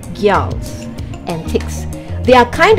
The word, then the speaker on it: Gjalls: Today it's all about Gjalls, or using the more accurate pronunciation, Gjalls and Ticks.